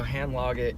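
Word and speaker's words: Handlaget: hand log it like I kind of say like think of like lager beer and pronounce the a is that one hand okay what is it what do you do so hand log it is a to kind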